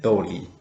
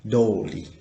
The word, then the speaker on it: とおり: So, what you should remember, that means if you put the no between the noun and the tori, you can pronunciation the sound tori like tori. But if you don't have the no, you should change the sound to be dori.